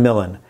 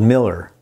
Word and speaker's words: Millen: Look, I have a simple name, Millen, but most of my life I've been called Miller or Mullen, including at our wedding.